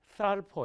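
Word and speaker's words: θάλπω: 때도 있죠 2th 바랍니까 쌀 퍼 이렇게 발음을 해야 되는데 이 단어의 뜻은 소중히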